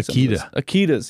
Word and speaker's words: Akita: Akitas, yes, Akita. That makes more sense. Like the power tool.